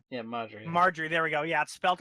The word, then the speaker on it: Margaery: and BA her Nick her name's not pronounced the way it's spelled I was up no her granddaughter all right yeah mother Marjorie there we go yes